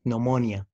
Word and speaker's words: pneumonia: psychic, psychopath تمام طيب ال PN لو جه في البداية زي كلمة pneumonia برضو حرف الـ P بيكون silent letter طيب بالنسبة لحرف الـ S حرف الـ